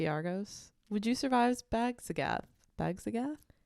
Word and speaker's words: Basgiath: Bagzagath? Basgiath.